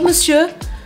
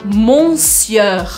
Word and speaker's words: monsieur: Prestem bem atenção como eu mexo a minha boca. Eu não falo anasalado. Eu não falo monsieur. Eu não pronuncio como tá escrito. Eu pronuncio de uma outra forma. Agora, por quê? Que a língua foi se transformando e não se transformou a forma de escrever essa palavra. Então, eu falo monsieur.